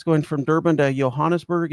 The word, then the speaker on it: Johannesburg: I learned to say pronounce it like an H. Let me check something here real quick. All right, it's going from Durban to Johannesburg.